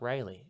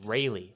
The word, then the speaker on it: Railey: And Yeah, Then, so my name's Railey, not Riley. It's pronounced Railey.